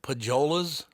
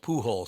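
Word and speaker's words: Pujols: the on Deck circle pajas is it pajas I said no it's pronounced Pooles she goes what I said his name is pool she goes Pooh hole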